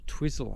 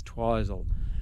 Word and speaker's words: Twizel: lake and uh now we're heading for twizel twizzle I reckon it should be pronounced but anyway they tell me that the New Zealand pronunciation is twizel a town apparently a town with fairly good